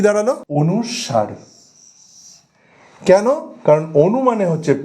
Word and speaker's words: অনুস্বার: এটার একচুয়াল যে উচ্চারণটা সেটা তাহলে কি দাঁড়ালো? অনুসার।